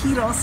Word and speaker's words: gyros: This is the last gyros, in Greece, because we're heading up the coast